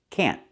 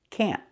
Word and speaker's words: can't: It's pronounced can't. We have to use a stop t. Can't.